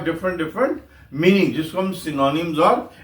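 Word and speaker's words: synonyms: Thesaurus वो word होता है वो डिक्शनरी होती है जिसमें सिनोनिम्स और एंटोनिम्स मिलते हैं। क्या मिलते हैं? सिनोनिम्स। मैं फिर आपको आगाह करूंगा। ये सिनोनिम्स है।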